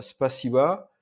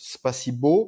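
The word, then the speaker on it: спасибо: donc par exemple euh spaba euh les souvent les débutants le prononcent spaibo parce queà la fin c'est un o mais en fait c'est pas o c'est a c'est pas si vo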